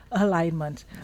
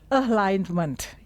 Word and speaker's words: alignment: So pronunciation alignment. Ok. So listen carefully. Alignment. The stress is online. Alignment. Jadi gitu ya stressnya di situ. Alignment. Oke. Not alignment atau a leak. Itu ada ada g-nya sudah di tengah ya.